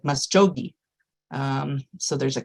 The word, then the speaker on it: Muscogee: Um, but the C sound in the Greek language is usually a CH. So when you see Muscogi spelled with a C and you're thinking about the Muscogi language, it would sound like Masogi.